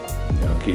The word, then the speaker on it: gnocchi: Gnocchi is kind of pasta.